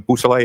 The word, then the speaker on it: Beausoleil: Could you say that name again and spell it for us? Yes, please? sir. It's Trooper Jason Bousselet.